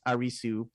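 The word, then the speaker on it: アリス: last name is arisu which is how you say Alice in Japanese because there's no l so a r i s and then there's no CE in Japanese so you would say Su so arisu is Alice in Japanese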